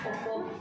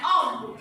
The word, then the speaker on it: ohm: Kalau bacanya ohm. Nah, gitu ya. Kayak ada khas. Ohm. Bukan om.